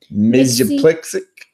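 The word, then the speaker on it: Mxyzptlk: It's Mix Yes Piddle Ick. Oops, sorry, I bumped the microphone. So weird. Right there. Mix Yes Piddle Ick.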